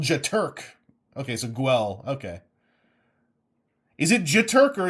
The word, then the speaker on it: Guel: Rhymes with fuel. Guel Jaturk. Guel Jaturk. Okay, so Guel.